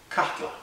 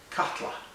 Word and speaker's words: Katla: good news is that it's easy to pronounce it's cut katla almost like a a kettle catla so uh I hope